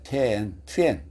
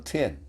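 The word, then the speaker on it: תאנה: 테엔 또는 트엔 그렇게 발음합니다. 이사야 34장 4절.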